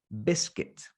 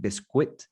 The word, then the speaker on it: biscuit: in scotland england wales ireland we would say biscuit is a pronunciation of the word biscuit b-i-s-c-u-i-t but we don't pronounce it like bisquit it's biscuit that's what we would say biscuit